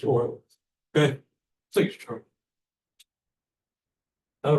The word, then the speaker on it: Euler: That's not like oil can, that's like EULER, German pronounced oil.